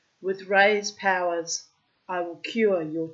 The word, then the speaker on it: Ra: name of the god the son God Ray or ra as I was taught to pronounce it and um he was